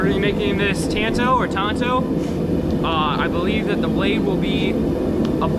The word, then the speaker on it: tanto: I think that they're called tantos. Tonto o, but it's tanto, I think. I don't know how you pronounce it. Um, but it's t a n t o. Tanto, I guess.